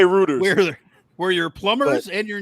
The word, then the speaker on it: Reuters: number three reuters r-e-u-t-e-r-s you said it right writers some people say reuters were your plumbers and your news source the proper pronunciation is uh reuters is a well-respected unbiased